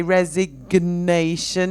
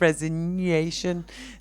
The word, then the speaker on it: resignation: employer okay any product the only pronunciation issue I can see there is to remember to say resignation instead of resignation that's the only one